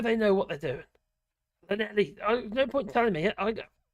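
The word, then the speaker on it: Llanelli: Clanelli.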